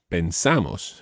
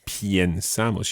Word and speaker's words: pensamos: Think of pienso, but pensamos. You don't say piensamos. You don't need to say piensamos because the stress is not on that first syllable.